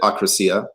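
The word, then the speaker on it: akrasia: ancient greek word um i was taught to pronounce it accracia but it's not super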